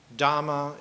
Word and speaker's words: Dhamma: so that the dhap the book dhama is the southern poly pronunciation of Dharma Dharma path Dharma the